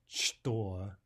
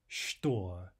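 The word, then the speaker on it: что: In these two very common words, the ch is normally pronounced as sh. So the word for what is not chto, but rather shto, shto.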